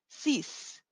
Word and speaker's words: six: it says six but in French we say CE ceas ceas it is almost as we're if we're saying c e a s e you can write that